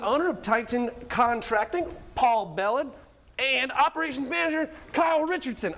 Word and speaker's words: Belland: Let's welcome the owner of Titan Contracting, Paul Belland, and operations manager Kyle Richardson. I mispronounced your last name.